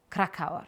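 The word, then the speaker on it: Krakauer: John Kraau. Krakow. Krakow. Kra. Let me check. Let me check. Cracker. The crack rhymes with crack and the hour sounds like hour. Is John Krakaw.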